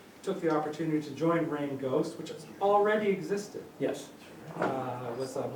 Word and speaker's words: Reign Ghost: Well, first of all, it's spelled R-E-I-G-N. It's Yeah. not like rain from the Yeah. sky. It's rain as in the king's reign.